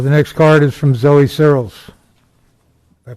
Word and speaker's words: Searles: The next card is from Zoe Searles. Did I pronounce that correctly?